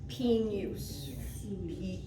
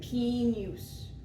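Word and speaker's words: pignus: Pinus. Pinus. Pinus, you don't sound the J. You kind of make it like a Y.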